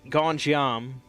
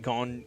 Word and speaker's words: Gonjiam: Oh, I rewatched Gonjiam, Haunted Asylum, which is also Korean, much like Squid Game.